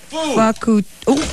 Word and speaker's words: Fukutoku: So the correct pronunciation is... Foo! Foo! No pho. See? Yeah. If you start off with pho, you are... That's a long O. It should be... Fukuto.